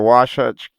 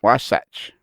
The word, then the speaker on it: Wasatch: haul freight over the Wasatch Canyon from Wyoming. Yeah, they put a silent H in there. I know, fascinating, eh? And they've been Wasatch.